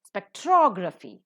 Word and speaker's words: spectrography: first syllable is accented spectrography the second syllable is accented why because the rule